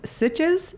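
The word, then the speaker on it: Sitges: Well, I hear there's a lovely place, Sitches.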